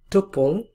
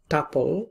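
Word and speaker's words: tuple: পরেরটাকে বলি আমরা টপল বা টাপল, অনেকে টাপল উচ্চারণ করে, অনেকে টুপল উচ্চারণ করে।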